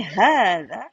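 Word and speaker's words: هذا: Do you realize that we when we say "haatha" here? When we pronounce "haatha" we pronounce as alif in between. Do you realize that? But it's not written.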